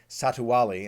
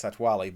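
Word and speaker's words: Satu'li Canteen: I've said Satuwali, and I don't think that's right. I think it's Satwali.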